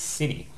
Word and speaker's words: city: Okay, so yes, technically, the word city should have a T in it, and you'll notice that I pronounce that as a T.